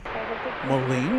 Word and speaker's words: Moline: Molen, you pronounced it correctly.